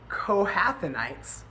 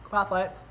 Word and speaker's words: Kohathites: is ready to move, only then are the Kohathanites to come and do the carrying. But they must not touch the holy things, or they will die. The Kohathites, I said it wrong.